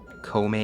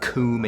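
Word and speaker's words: Koume: Kome and Kotake. That'd be like the Japanese pronunciations. I didn't call them that when I was a kid, though. It was like Koom and Kotake.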